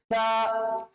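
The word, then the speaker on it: ثاء: সা সা, সাটা কিরকম হবে? পাতলা হবে।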